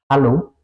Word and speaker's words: Hallo: La H, una gran diferencia es si es al principio de palabras, como por ejemplo en hallo, eso sería hola, se pronuncia, ¿ok? Es decir, que tiene un sonido en alemán, siempre al principio de las palabras.